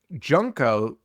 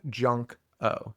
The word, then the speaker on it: Junko: Junko, dude, I gotta stop saying it like that. Junko, it's spelled Junk-O, Junko. So I'm sorry for mispronouncing it.